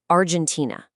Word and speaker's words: Argentina: For example, a native Spanish speaker might say Argentina with a hard G sound, but in English, that sound softened into a J. Argentina.